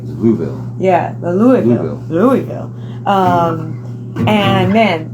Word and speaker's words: Louisville: So then we went to the Magnolia Bar in Louisville. I don't know how they do it with their voice. They like stutter it. Julie wouldn't probably know how to say it right. Louisville.